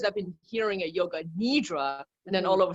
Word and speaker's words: nidra: it's funny about pronunciation I do pronounce it yoga nidra myself and that is predominantly the the pronunciation that I that I hear and that I you know people tend to be using out there it's a translation of